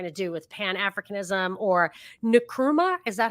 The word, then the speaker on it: Nkrumah: So it's the exact opposite of what Gaddafi was trying to do with Pan-Africanism, or Nkrumah. Is that how you pronounce the Ghanaian's name? Yeah, Kwame Nkrumah.